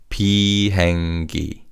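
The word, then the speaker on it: 비행기: And this is Pengi. Pengi. Now, this word is made up of pi, which means flight, and the syllable key, which we've seen in other words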